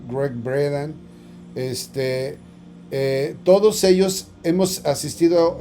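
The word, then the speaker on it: Gregg Braden: junto con Great bredan aunque se escribe braden pero se pronuncia Greg braden este todos ellos hemos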